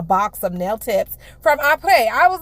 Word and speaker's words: Apres: APRES.